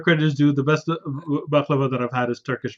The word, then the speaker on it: baklava: But my favorite is a Turkish baklava. I'll say it right now, or baklawa as we call it.